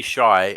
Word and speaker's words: Hai: it was it's Lady Shy and it's lady Q I should get it I should get a sign the X um h-a-i is pronounced the same way as s-h-a-r can we talk about